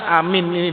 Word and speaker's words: aamiin: lalu akan diampuni dan Amin ini diucapkan dengan tegas dengan keras aamiin diucapkan jangan nantinya setengah-setengah ada itu Amin itu